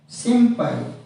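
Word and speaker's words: 心配: B and M sound pronounce as M for example sin plus P it pronounce as simpai simpai means worry of fear if followed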